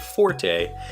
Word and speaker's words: forte: an in unimpeachably correct you will pronounce the word Forte meaning something that is